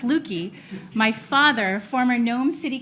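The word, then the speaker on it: Löki: I also have the person who, if you want to know why I have umlauts on my name, and my name is pronounced Lukey, my father, former Nome City Council member and Nome School Board member, Lou Tobin.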